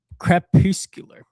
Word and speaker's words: crepuscular: Crep crepuscular. Crepuscular. Crepuscular. Spell it, please.